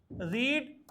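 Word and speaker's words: read: रीड रेड रेड केवल उसका pronunciation बदलता है।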